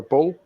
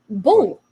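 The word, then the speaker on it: Bühl: Sam Matterface is annoying me again because he can't pronounce basic German names because apparently it's Clara Bull. Bull. Yeah, it's there's literally an out there, Sam. Yeah, it's bull.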